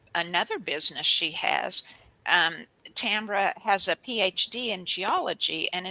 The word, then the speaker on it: Tambra: Am I pronouncing it right, Tambra?